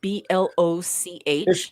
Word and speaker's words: Bloch: Because we have the Bloch guy, which is like Bloch. That's how it's spelled. I always said Block because I've heard it pronounced Block before.